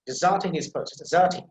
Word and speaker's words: deserting: So the first syllable, that will be little bit, it is a little bit silent, or you can say not that much emphasized, but the second syllable, that is emphasized.